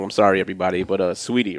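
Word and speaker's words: Saweetie: sorry everybody but uh sweetie right yeah sweetie nice it's just but it's spelled like saw wheatie yeah right she's from the south they can't spell sweetie okay just sweetie nobody's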